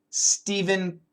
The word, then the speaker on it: Stephen: there's a famous author Stephen King Stephen King s p h n he pronounces it like S V there's a famous